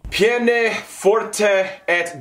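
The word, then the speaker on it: peine forte: torture called atticus houses pronounced piane forte okay piane forte where if the accused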